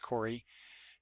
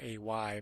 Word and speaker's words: Koray: This is by Jay Faerber, who's the writer, and Corey, I think it's pronounced Corey. It's Koray, but I'm pretty sure that you would say that as Corey Coronel.